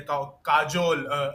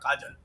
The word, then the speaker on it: Kajol: so this is the first match against USA where Kajol, as she wants her name to be pronounced, and not Kajal.